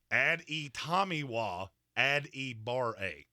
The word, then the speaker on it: Adetomiwa Adebawore: Adetomiwa Adebawore. That's exactly how it's pronounced.